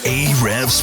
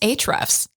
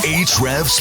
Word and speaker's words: Ahrefs: you're listening to Ahrefs Podcast, Ayrefs podcast. It's actually pronounced Ahrefs. Oh, sorry. My bad. Let's do it again. Ahrefs podcast.